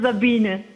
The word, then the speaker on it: Sabine: How do you pronounce your name? It's Sabine.